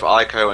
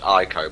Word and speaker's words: Ico: I have never heard Ico pronounced as Eco before, ever. I don't know what in the world happened there, but that works.